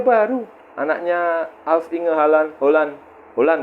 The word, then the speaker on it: Haaland: Haaland katanya bacanya, bukan Haaland.